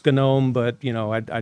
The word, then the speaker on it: GNOME: Um there's distributions, there's desktop environments, there's best practices, there's commands, there's the proper way to pronounce Gnome. Um I know it's gnome, but you know, I I don't do that.